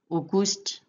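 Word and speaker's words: Aogositra: 8월 AO로 쓰여 있지만 O로 발음하시면 됩니다. 오구스트, 오구스트, 오구스트, 오구스트, 오구스트.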